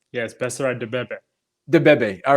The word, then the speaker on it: Beserat Debebe: Yes, Beserat Debebe.